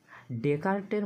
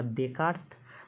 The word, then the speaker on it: ডেকার্ত: এবারে আমরা দেখে নেব ডেকার্টের মতে দর্শনের উৎস কী। ডেকার্টের মতে সংশয় থেকে কিন্তু দর্শনের উৎপত্তি। তাহলে সংশয় থেকে ডেকার্ট বা ডেকার্ত, ঠিক আছে, ট বা ত উচ্চারণ হয়, ঠিক আছে, আর সংশয় থেকে কার?